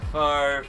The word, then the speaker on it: Favre: He's like one syllable, that name, Brett Favre. Yeah, Favre.